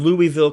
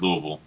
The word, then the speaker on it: Louisville: con is September 28th through the 30th in Louisville Kentucky you can pronounced Louisville Louisville sorry there Louisville okay it's in Louisville